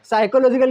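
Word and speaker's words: psychological: तो बहुत बढ़िया है साइकोलॉजिकल की स्पेलिंग स्टार्ट होता है पी से इसमें पी और एच है लेकिन इसको बोला ही नहीं जाता है साइलेंट है तो काला लगाया भाई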